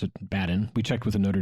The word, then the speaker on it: Badin: was probably like badal but we're americans we pronounce it baden we checked with the notre dame grad he was born in orleans france on july 17 1768.